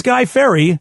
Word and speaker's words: Fieri: think he called him Guy Fieri and uh nobody knows how to say his name but it really is Guy Ferry that's true what's false